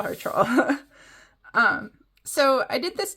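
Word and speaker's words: Trolle: say her name and I know it's not Trole. I know it is like troll, but I can't quite get that that L sound. So, I'm just gonna call her Troll.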